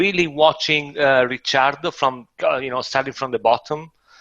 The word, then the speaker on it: Ricciardo: I call it Ricciardo. I mean, Ricciardo. Yeah, yeah. okay. I think that's the correct pronunciation. Well, if Um, it's an Italian one, that should be the one.